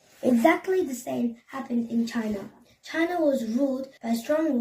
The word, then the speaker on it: Qin: The waring straight all the way to the east was called Chin, pronounced Chin.